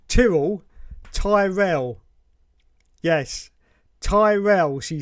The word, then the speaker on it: Tyrrell: be that guy, but it's pronounced Tyrrell, as in squirrel. Yeah, just say squirrel and then say it with a T. Squirrel, Tyrrell. That's it is. Yes, not Tyrell, which was that shady corporation in Blade Runner, wasn't it?